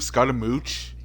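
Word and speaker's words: Scaramouche: you indestructible that's how you say his name Scott a mooch Scot a mooch skage oh well the doctor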